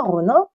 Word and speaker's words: ronin: Un ronin. Tu dis un ronin ou un ronin? Un ronin. Un ronin, on est d'accord. Il n'y a pas le son in en japonais.